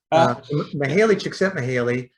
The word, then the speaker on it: Mihaly Csikszentmihalyi: I can never pronounce his name. Mihaly, yeah. Yeah, I had to learn that because I repeated enough. Mihaly Csikszentmihalyi, and his book, Flow, the Psychology of Optimal Experience.